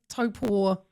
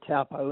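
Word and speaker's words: Taupo: Four penny lake topo stamp. What is its what is its providence? Well, we we call it the for pony tapo invert is its um abbreviated name.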